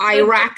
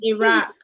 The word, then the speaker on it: Iraq: potato potato or like instead of a root oh iraq and iran i'm sorry americans but it's iraq and iran iraq yeah um and then